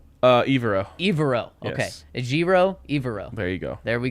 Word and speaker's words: Evero: Evero.